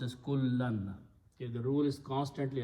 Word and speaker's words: كُلًّا: so it will also, as a maf'ul, will change to two fathas, and we add an alif there, so it is pronounced as kullan.